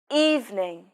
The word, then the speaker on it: evening: evening and this was the stress is on the first syllable evening good evening do you know which words we stress evening that's right evening so we say it louder and longer now listen carefully good